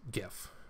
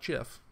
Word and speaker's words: GIF: Um, it's GIF, and it has been settled by the guy who made GIFs. It's not GIF because it's not spelled with a J. It's GIF because it's spelled with a G.